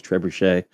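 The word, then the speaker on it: trebuchet: Uh, I think the French pronunci pronunciation is trebushche, but we just want to throw into the desert.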